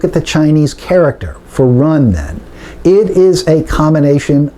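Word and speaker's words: 仁: very simple concept run I know it looks like Jen but to this Texas Oklahoma Louisiana access accent it's actually pronounced something like run benevolence compassion sympathy if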